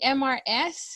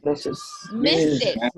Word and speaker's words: Mrs: Now, how do you read MRS? We say? Miss. Look at the image. Look at the image. Mrs. Ah, Mrs. Right? Mrs. So, Robles. Mrs. Agenda. Robles. Married woman, right? Mrs. Robles.